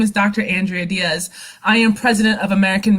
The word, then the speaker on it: Diese: It's Diaz, not Dicey.